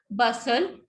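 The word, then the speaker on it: bustle: बसल, तो यहाँ पे टी वी वॉन्ट स्पीक.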